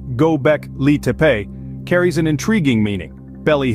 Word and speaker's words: Göbekli: human-built religious structure known to us gock liepe pronounced gobec Lee carries an intriguing meaning belly Hill it stands